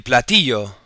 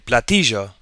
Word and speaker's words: platillo: So you may hear, if you're traveling in that area of the world, el platillo.